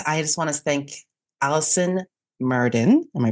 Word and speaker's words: Alison: And just reminder that her name is spelled A L I S O N. So, one L, not two.